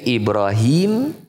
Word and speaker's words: Ibrahim: ada tua pihak qiroatan ada dua cara membaca Ibrahim bisa dengan di kasrohkannya ha ya menjadi Ibrahim atau dengan di fathahnya dibaca ibraham oleh sebagian orang dibacanya menjadi Abraham contohnya salah satu presiden Amerika Serikat namanya Abraham lincolin itu aslinya adalah ibraham ibraham atau Ibrahim dua-duanya boleh kalau di kita Ibrahim